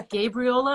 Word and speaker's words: Gabriola: But I'll let you go to enjoy the rest of your lovely day on oh, I almost said it wrong. It's Gabriola Island. Gabriola Island.